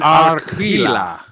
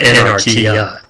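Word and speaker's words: Anarquia: And also, we have an Arquila. Is that right? You were pretty close. Anarquila. Okay. No, there's no fucking hell. Anarchy. It's like anarchy, but anarchia.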